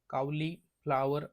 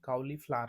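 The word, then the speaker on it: cauliflower: शब्द आहे कावली फ्लावर आता एफ एल ओ डब्ल आर जो आहे त्यातल जो हे आहे डब्ल आहे त्याचा उच्चार आपण जास्त प्रमाणात करत नाही कावली फ्लावर असं म्हणत नाही कावली फ्लार म्हणतो फ्लावर एफ एल ओ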